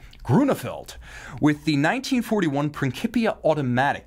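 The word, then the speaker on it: Grönefeld: I once wondered what their name pronunciation was during fondue in Switzerland, and one of the guys with me had the Groenefelds on speed dial, called them up, and the voicemail came back, Groeneveld. That's how cool these guys are.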